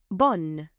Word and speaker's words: bonne: The difference in pronunciation is that the masculine word ends in a nasal sound, bon, whereas the feminine word you can clearly hear the letter N, bonne.